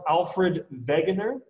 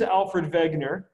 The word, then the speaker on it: Alfred Wegener: his name is pronounced alfred wegener um he was german so the the w in german is v sound so this is alfred wegener he was the first